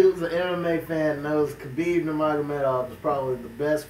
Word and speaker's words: Khabib: I heard it's like kebab.